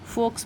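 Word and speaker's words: folks: ऑल द फॉक्स तो यहां पे हमारा एल साइलेंट होगा इसे फॉक्स पढ़ेंगे फॉक्स का मतलब हो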